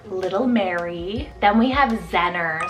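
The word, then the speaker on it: Zennor: the Sea or little Mary then we have zenner spelled z-e-n-n-o-r zenner and this one's actually a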